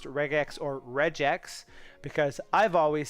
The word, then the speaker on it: regex: it stands for and i pronounce the g like a g and not like a j but i also say